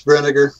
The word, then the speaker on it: Brinegar: My guest tonight is Russell Brinegar. Did I say that right, Russell? It's Brinegar. Brinegar. Okay. Yeah. Well, that's really interesting because there's an I in there. Yeah, it's like vinegar with a BR.